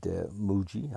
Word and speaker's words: Mooji: And I recommend Muji. I love him, and Muji is just great. If you listen to his, it's spelled Mooji.